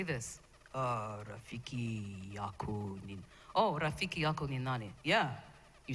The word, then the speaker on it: Rafiki yako ni nani: Oh, Rafiki yako ni nani?